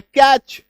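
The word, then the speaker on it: catch: तो हमें एकार की मात्रा ट स ह, सेट सह, ये आ जाएगा। एक साधारण दिमाग अगर हम लोग लगाएं तो ये उच्चारण निकल के आएगा। लेकिन इसका सही और एक्चुअल जो उच्चारण है वो है कैच।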